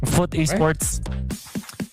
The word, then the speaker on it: FOOT Esports: Foot esports love it. It's not you you would first hear uh f O T or food. But then when pronounced properly, foot esports falls off the tongue.